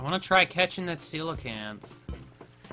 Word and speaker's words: coelacanth: I want to try catching that coelacanth. Is that how you pronounce that?